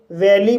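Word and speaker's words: valley: वी को व पढ़ा जाएगा। ए को ए पढ़ा जाएगा और डबल एल को ल पढ़ा जाएगा और इ को इ पढ़ा जाएगा और वाई साइलेंट रहेगा।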